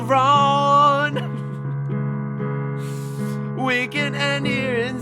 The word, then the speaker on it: Ron: Oh, you Ron does not rhyme with gone. Why are you saying gone and then wrong?